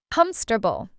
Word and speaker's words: comfortable: And we say it in only three parts, not four. Comfortable.